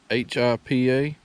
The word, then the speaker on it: Hipa: any parts or anything they're known as Hippa or heppa I'm not really you're own the pronunciation but it's hipa now I've actually had